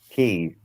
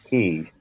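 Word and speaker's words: Caye: Key. K. It's Key. K. K. It's spelled K, but K. it's pronounced Key.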